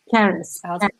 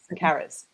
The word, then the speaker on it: Charis: Is that how it's pronounced? Now thinking about audiobooks. Charis. Charis.